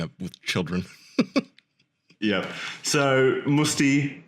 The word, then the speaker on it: Mutzi: So, Musti. Musty. Is that how you do it? I can't pronounce foreign names very well. You're doing it right. Musti.